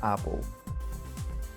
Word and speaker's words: apple: So listen again, apple or apple. The right pronunciation with Schwa is apple.